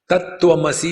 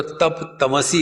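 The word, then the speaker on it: तत्वमसि: कंजंग consonant होता है, जोड़ाक्षर, वो ठीक से उच्चारण नहीं कर सकते। जैसे आत्मा होगा तो आत्मा को अत्ता कहेंगे, तत्वमसी होगा तो तप तमसी कहेंगे।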